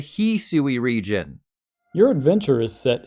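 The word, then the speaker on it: Hisui: additionally to my surprise the official Pokemon YouTube channel calls the Hui region the heui region your adventure is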